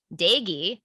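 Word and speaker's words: Doege: quarterback derrick how do you say it jarrett dagy i learned how to say that today his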